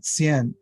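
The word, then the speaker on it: Qian: chinese scientist yes yes cn uh it's pronounced it's spelled differently depending on how you look it up his family name is sienn uh old-fashioned is t-s-i-e-n but the uh the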